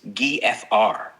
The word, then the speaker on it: GFR: GFR is typically pronounced as the individual letters GFR IPA FR.